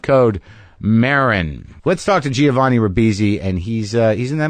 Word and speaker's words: Giovanni: Giovanni. Yeah. And like you say Joe and then Vanni.